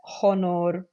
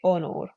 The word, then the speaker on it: honor: a CH likewise here H we would not pronounce it as hon we would say onor now if you accidentally